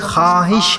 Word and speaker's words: خواہش: ہے، تلفظ خواب ہے، لکھنے میں خواہش ہے، لیکن تلفظ خواہش ہے۔ اسی طرح ہم کہہ